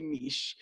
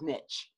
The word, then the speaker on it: niche: I say niche. But niche. I say it's niche, but it's apparently the proper pronunciation is niche.